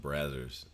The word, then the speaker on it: Brazzers: I think it's pronounced Brazzers. You know those they tried to buy.